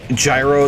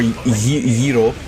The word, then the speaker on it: gyro: Except I totally believe it in this case, because, like, the fucking gyro that I had, or gyro, as the Greeks would actually prefer you to pronounce it.